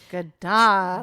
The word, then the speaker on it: Gadara: low and mean, and it sounded like Gadara, with the accent on the second syllable. Gadara.